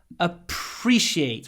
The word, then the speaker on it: appreciate: everything you do appreciate what's important here PR whenever you see PR and there are a lot of words with PR you need to add a lot of aspiration a lot of air I like to write it like this a preciate appreciate so it's a p then it's air Like the Wind and then it's reciate